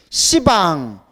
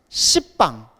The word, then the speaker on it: 시방: 지혜의 방법을 널리 닦아 시방 모든 공간을 방이라고 해요 시방 동서남북 사방 사방을 또 나누면 뭐가 돼요 팔방 방의 위와 아래를 합치면 뭐가 돼요 십방 십방 하면 발음이 너무 세죠 그래서 불교에서는 십 이렇게